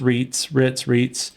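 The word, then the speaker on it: Reitz: You also have Aaron, and I think it's pronounced Ritz.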